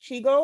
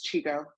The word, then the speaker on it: Chigo: speak yes okay uh is chigo is your name pronounced Chico or do I have that right correct me and I don't yes you have it right it's Chico okay uh so uh rice